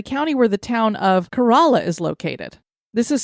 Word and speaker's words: Corolla: sound in the county where the town of corala is located this is spelled like Corolla like I have a Toyota Cora that's why I would have said it but it's actually locally it said carala a herd of feral Banker horses call this